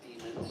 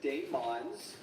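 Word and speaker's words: daemon: Some people refer to them as demons because they are pronouncing it the way that it is spelled with that old English form of spelling.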